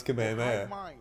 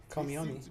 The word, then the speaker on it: Kamehameha: still in there those kids trying to pronounce Kamehameha call me on me like this gen Z is not knowing how to say Kamehameha like the Kami hammy guys I'm gonna bless